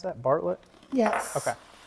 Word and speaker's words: Bartlett: Is that how you pronounce that? Bartlett?